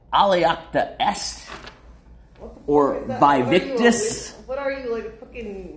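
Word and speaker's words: Alea iacta est: The other one was Aliacta Est. And I'm pronouncing it wrong. It's like Aliacta Est.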